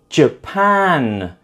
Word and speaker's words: Japan: Japan is also the second syllable, and student is the first syllable.